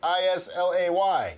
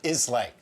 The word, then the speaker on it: Islay: by the way that's i-s-l-a-y yes it is pronounced isla not islam just saying anyway we are now